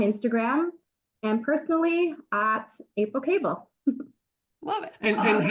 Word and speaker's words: Koebel: and I know that's not how you spell cable fair enough yes it is k o e b e l perfect b o e is pronounced a so cable not and it's German yeah anyways so for me